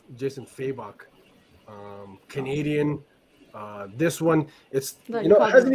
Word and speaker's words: Fabok: How did you pronounce his name now? Fabok? Jason, as far as I know, it's Jason Fabok.